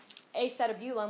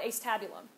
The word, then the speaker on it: acetabulum: Or we don't call it acetabulum, we call it acetabulum.